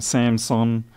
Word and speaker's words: Samson: Lewis's wireless, these Samson, there's no P in that, I keep saying it wrong, Samson Stage PXD1 units, it's not going to show up too well.